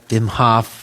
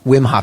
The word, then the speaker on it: Wim Hof: talk about this guy Vim Hoff whm Hoff how do you pronounce his name whim Wim Hoff it's not Vim Hof it's wimh wimh whm Hof like do it on a whim on a whim which